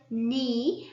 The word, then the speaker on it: knee: silent 6 we have knee and the k is silent now we are going